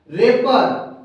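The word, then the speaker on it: wrap: दोस्तों यहाँ पे देखिए प्रत्येक आर से पहले हमें डब्ल्यू मिल रहा है। तो यहाँ पे दोस्त हम डायरेक्ट आर यानी र वर्ड को उच्चारण कर रहे हैं, आर का हम उच्चारण कर रहे हैं, डब्ल्यू हमारा कंप्लीटली साइलेंट है।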